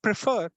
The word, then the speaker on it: prefer: say prefer we say prefer the first syllable pra is kind of unstressed and fur last one so prefer prefer and the second syllable is stressed so remember this i